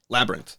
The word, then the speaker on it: Labyrinth: Studios I think um I think it's Labyrinth like I say it in two syllables you say it in three yeah I think I say it in two Labyrinth Labyrinth Labyrinth so Kevin's